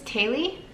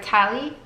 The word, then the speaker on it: Tali: My next name is Tali, or Tali, and you can choose how you want to pronounce it.